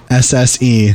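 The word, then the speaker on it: Miousse: Mousse. So, Meows, but with a French accent is how you say her last name.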